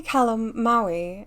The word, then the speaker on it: Calamawy: May Calamawy, I hope I'm pronouncing that right. I think I know it's like calamari, but like with a W so...